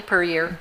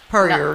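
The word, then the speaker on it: Pierre: So it's per year. Per year. Not per year.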